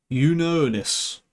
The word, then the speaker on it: Junonis: There's no J sound. It's a U, like a Y. Junonis. Oh, that's a tough word to pronounce. I'm looking at this one here. Unonis.